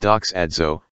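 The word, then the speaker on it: δοξάζω: Then our Father spoke this word into and unto us, doxazwa, pronounced doxadzo, Strong's word number G1392, and means to render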